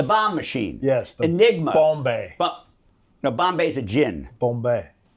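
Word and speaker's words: Bombe: I digress into the proper pronunciation of Alan Turing's Bombay machine, but go ahead.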